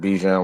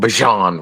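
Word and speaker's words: Bijan: you you hear with BJ Robinson um Bjan Robinson the way he likes to pronounce it but um he he I I love the offense.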